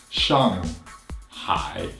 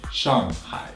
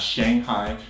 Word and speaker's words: Shanghai: am G H AI so with the G after the Shang it's not really Shang anymore in the English since it's actually more like shop ah you got an open mouth really wide open ah shun hi shun hi not Shanghai shun next up its